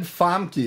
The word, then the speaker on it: Famke: Now, you said Famke. Is that how that's pronounced?